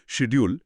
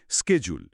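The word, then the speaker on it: schedule: Classic উদাহরণ হল শিডিউল শব্দটা। আমেরিকানরা বলে স্কেজুল বা স্কেজুল, যেখানে ব্রিটিশরা বলে শেডিউল বা শেডিউল। দুটোই কিন্তু সঠিক।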